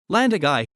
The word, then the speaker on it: Llandygai: land a guy welsh pronunciation also land data welsh landagai is a